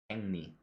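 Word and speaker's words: 백리: So here, the kiok at the bottom will change to become an iang, and the lil at the start of the next syllable will become a nian. When we make these changes, we get peng and ni, or together, peng ni.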